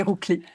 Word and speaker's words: Ruggli: J'allais prononcer votre nom à la francophone, mais je pense qu'on doit quand même dire Rougli, n'est-ce pas?